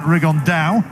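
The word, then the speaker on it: Rigondeaux: on door as he's correctly pronounced with the Spanish accent riggan Dow and Chu absolute geniuses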